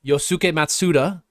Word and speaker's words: Yosuke Matsuda: In the sort of vein of Japanese developers, we should also probably talk about Squeenix and their CEO, Yosuke Matsuda, who is Nice on pronunciation.